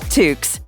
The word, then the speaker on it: toque: Or, as they say in Canada, toques. Is it really? One syllable. Toque.